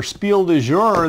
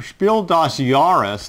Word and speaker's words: Spiel des Jahres: And this one was nominated for Spiel du Jour this year, Spiel des Jahres. Let me correct that. I'm used to saying it wrong.